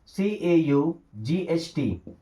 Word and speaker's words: caught: की मात्रा पढ़ना, जैसे CAUGHT। अब इस वर्ड में जी और एच तो साइलेंट होंगे। ओके, साइलेंट का मतलब जिसे